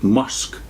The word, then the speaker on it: Meshech: Quote, "The Russians and Muscovites seem to be colonies of Rosh and Meshech, or, as the name may be pronounced, Musk, but I know not, and that we have any reason for supposing that they are here intended."